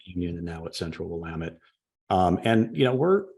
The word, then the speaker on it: Willamette: little background on Central Williamette just for a quick sec if you don't mind certainly certainly and uh it's Central Willamette I always say it wrong I'm sorry I did